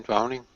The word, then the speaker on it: drowning: I believe there's only one syllable in drowning. No, there's two. Drowning. Two syllables. And which is the strongest one? Drowning. You tell me. I think it's the first one.